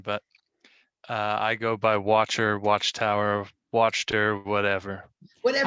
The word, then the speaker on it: Wachter: watcher because it's easier for him but uh is the german pronunciation but uh i go by watcher watchtower watched her whatever whatever i like watcher